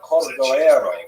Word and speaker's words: Cordovero: his Matseva, his gravestone, it's Cordoero. It's a Portuguese spelling, but it's kind of a strange thing to pronounce in Hebrew, so it was sort of mangled into Cordovero, and that has become the standard, even though it's probably not correct.